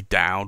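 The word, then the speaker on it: d'Oud: And we have the Visconti, and this is the Ecstasy Dowd or Dude, and it's only, I say Dude because OUD is pronounced Oud, so with a D apostrophe it's really Dude or Dude.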